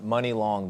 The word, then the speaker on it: Muni Long: So for people hearing you for the first time, meeting you for the first time, Muni Long, the name, you say it like money, but it's spelled differently.